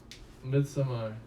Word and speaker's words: Midsommar: yeah no it is it's pronounced like that mid-summer but the it's it's because of norwegian and stuff in swedish or something like that yeah because that's what